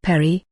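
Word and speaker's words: PARI: continuity of government for the continuity of operations plan 25-pair I risk and astronomical Research Institute pronounced Perry is an astronomical observatory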